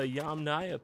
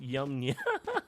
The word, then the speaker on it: Yamnaya: Okay, so the Yamnaya people, not Yamnya.